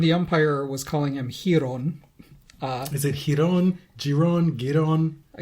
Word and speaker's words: Giron: Apparently it's Giron, according to him. Oh. I thought I was saying it right then. I know. And the umpire was calling him Giron.